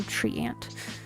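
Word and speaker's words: treant: So and it's spelled t r e a n t. So tree ant.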